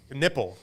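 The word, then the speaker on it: Knueppel: I think it's Knuppel. How do you pronounce his name? Nipple, right? Yeah.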